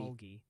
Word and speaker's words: Okmulgee: Okmulgee with a G like grapes, and it's That's Nevada, very, Missouri.